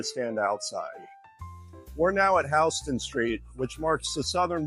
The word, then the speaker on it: Houston: outside we're now at hon Street which marks the southern border of the Greenwich Village neighborhood and yes it's pronounced hon even though it's spelled like Houston so have fun explaining